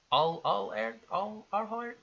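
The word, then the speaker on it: Arlert: Armin Allhurt. Allhurt? Yep, you nailed it. Yeah. Keep it's going. like alert.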